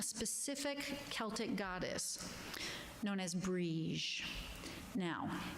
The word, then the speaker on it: Brigid: Celtic goddess known as Brigid. Now, it's important to know the difference between Brigid, which is spelled B-R-I-G-I-D, and Brigid. because they're not the same.